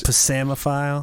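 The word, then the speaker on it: psammophile: the P is silent. Yes. So what's the other one then? It's actually PSAMMO double M. PHILE. Oh, Double so it's M. Pasamophile.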